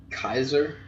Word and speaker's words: Caesar: as its pronunciation goes every C would have been pronounced like a cape for instance Caesar would have been pronounced Kaiser with a cape and Dobey use for